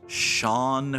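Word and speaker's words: Chone: everybody remembers Sean figgins take a look at that gentleman's first name that is pronounced Sean figgins oh I enjoyed Sean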